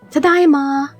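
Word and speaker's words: ただいま: When you come home, you say Tadaima, which means I'm home. Pronounced ta-da-i-ma. Tadaima. Tadaima.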